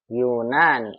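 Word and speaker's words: يونان: Yunani, nanya panjang.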